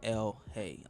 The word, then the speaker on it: ELHAE: And it's spelled, it's not like L.A. like Los Angeles. Yeah. It's ELHAE. So L-Hay.